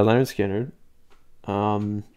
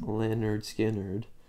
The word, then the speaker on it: Lynyrd Skynyrd: wind oh that's a lemon Skynyrd simple man it's off the album that's called it's pronounced Lynyrd Skynyrd and I think it's